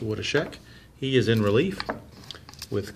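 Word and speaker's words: Woodeschick: I believe it's pronounced Wodashek.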